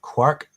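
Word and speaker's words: Kwirk: And then uh game three is um if I pronounced right, Quirk K W I R K on the Game Boy.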